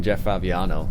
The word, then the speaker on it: Fabiano: Yeah, it's funny, because I'm watching Jeff Fabiano, which is how you say his name.